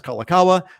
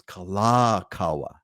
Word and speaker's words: Kalakaua: Everyone says Kalakaua, or everyone says Waikiki. Well, technically speaking, that's not correct. It's Kalakaua, right? It's Kalakaua. It's not Kalakaua.